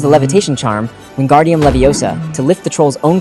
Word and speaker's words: Leviosa: In Charm's class, she smuggly told him, "It's Levi Osa, not Leo Sah."